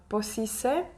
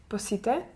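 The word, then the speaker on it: πώς είσαι: also heard about uh posise Posite am I saying it right yes you know there is no tea there but uh it literally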